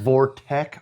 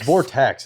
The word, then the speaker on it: Vortex: Is it Vortec or Vortex? It's Vortex.